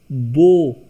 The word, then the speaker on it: beau: EAU oblique AU both gives O sound. BEAU is bow, beautiful.